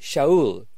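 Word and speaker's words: Shaul: Paul's name was basically a practical affair in aramaic his name was Showell but he needed to work with Greeks Greek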